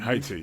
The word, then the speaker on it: Haiti: you say in Haiti. Haiti. Yeah. We say Haiti as well in English. Yeah. Yeah. Yeah. You probably don't pronounce the H as much.